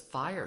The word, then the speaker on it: FHIR: So to answer your burning question, what does FHIR stand for? Although it is spelled F-H-I-R, it is pronounced as FHIR.